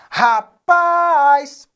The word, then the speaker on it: rapaz: Rapaz. Paz é a sílaba tônica. Observe, não está acentuada.